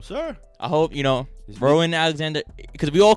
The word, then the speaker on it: Rowan: how you pronounce this r r o w a n bro rowan rowan rowan his name is rowan okay rowan rowan alexander barry did you know that no sir i hope you know rowan alexander because we all